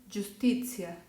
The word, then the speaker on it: giustizia: Después, cuando yo tengo a la letra G con las vocales I y en unión de A o U, los sonidos van a ser igual de la Y. Y voy a poner ya, yo, yu. Ya, yo, yu. ¿Ok? Entonces se pronuncia giallo, giovane, giustizia.